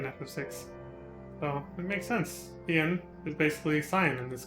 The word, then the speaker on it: Hien: Hien is basically Cyan in this game. Notice they have the same syllables. Cyan, Hien.